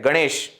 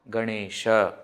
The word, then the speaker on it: Ganesha: is like that again in Hindi Etc they don't pronounce the last akara completely Ram isn't it Ganesh but in Sanskrit when we are talking we should say Rama Ganesha okay in other languages